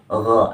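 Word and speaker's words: غ: Nah, jadi cara membacanya itu dalam Indonesianya itu pada umumnya kita orang Indonesia seperti huruf G. Akan tetapi dia dibaca lebih tipis dari huruf G biasa yang ada di Indonesia ini.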